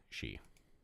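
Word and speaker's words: Sidhe: and my video constantly s d h e She it's pronounced she ah welcome rookie crystals are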